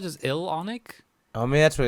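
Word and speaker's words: IllFonic: each other you know are they called just ill-onic i mean that's what it's ill phonic okay maybe that's right yeah that's how you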